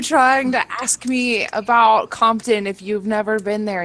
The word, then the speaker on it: Compton: Campton? Yeah, because at one point he has Jeff. Has you ever heard of Compton?